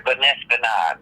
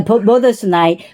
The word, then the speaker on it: budesonide: But it's the same thing, the Benestinide. The How do you say that? yeah, budesonide, which is for the Pulmicort.